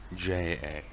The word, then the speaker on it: Freyja: It's Freyja. In a sense, the J is silent, but apparently it's pronounced like a Y.